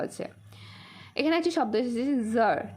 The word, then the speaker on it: tsar: এখানে একটি শব্দ এসেছে জার, TSAR, উচ্চারণ হবে জার।